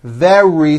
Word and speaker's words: very: Remember, very starts with a V sound followed by a strong R.